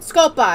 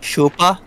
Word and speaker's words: Scopa: And Scopa, and all that shit. Wrong way. Chupa? Scopa. Chupa. Scopa. Chupa. Scopa. Are you saying it wrong, or am I saying it wrong? I'm saying it wrong on purpose.